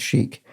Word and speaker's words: chic: You might pronounce it chic. And what is a homophone of chic? It is C-H-I-C, chic, which means smart.